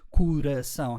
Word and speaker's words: coração: I added the poor and the dear because heart is a very short one-syllable word, while coração has 3 syllables.